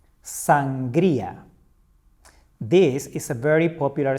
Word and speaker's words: sangría: Sangría. Sangría. This is a very popular Spanish drink made of wine, soda, water, and fruits. Remember? Sangría.